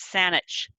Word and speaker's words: Saanich: my my riding is saanich gulf violence saanich is an anglicized mispronunciation of wasani so i am very